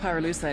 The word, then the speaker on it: pyrolusite: You know what pyrolusite is, right? Yeah, neither did I. Pyrolusite, key syllable pyro, by the way, is the shit